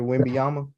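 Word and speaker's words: Wembanyama: mama so um is that not how you pronounce his last name Victor winbyama oh yeah man I don't know what they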